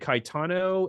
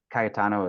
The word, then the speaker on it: Caetano: just wondering because in Italian, Caetano is how you say Cajetan, and I was wondering if that was like he took that.